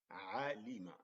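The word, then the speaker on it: عَلِمَ: And then the last one here is alima. Alima. So the letter ain has the fatha. Lam has the kasra. Mim fatha. Alima.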